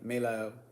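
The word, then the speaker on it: Melahel: That's how you properly pronounce this name. Melael is one of the thrones.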